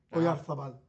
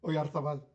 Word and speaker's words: Oyarzabal: Oyarzabal. That's how you pronounce it? Oyarzabal.